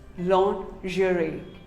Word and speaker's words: lingerie: commonly mispronounced word lingerie well most of us call it lingerie no it is not lingerie it is actually called lingerie say lingerie long jury what do you call